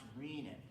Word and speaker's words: renin: Some people pronounce it renin, but renin is a different enzyme. It's pronounced. This one's pronounced renin. Renin is an enzyme that's found in milk. That's not the same as renin.